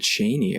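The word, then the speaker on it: Chani: a they actually use the parrot i think it's the pronunciation that herbert oh he said cheney oh wow cheney and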